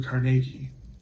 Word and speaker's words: Carnegie: a quote by Andrew Carnegie, Carnegie Hall, and I know some people say I pronounce that in a funny way, but my understanding is that that is the correct Scottish pronunciation of the name.